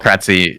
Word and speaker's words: Kratzy: So Kratzy is how it's said, and it's been a nickname of mine since I was a kid.